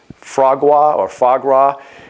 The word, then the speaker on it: foie gras: You want to talk about, I'm not sure if I'm pronouncing it properly, and in fact, our friends in France could probably correct me on this, but I believe it's foie gras.